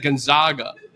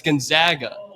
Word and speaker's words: Gonzaga: So he got mad at a media member because they pronounced Gonzaga wrong. And somebody said Gonzaga and he's like, "It's Gonzaga."